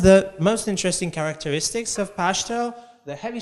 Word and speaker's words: Pashto: book said the main the main exception from that rule is the new name of the language which is pronounced Pashto so the last vowel is is under stress and there are multiple